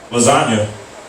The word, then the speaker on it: lasagna: Sometimes I don't have anything to do with the food because the way it's spelled. Lasagna.